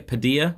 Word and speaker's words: Padilla: I'm gonna say pad Padilla Padilla I can tell you Tyler I accept your pronounce yes dear like tortilla and ian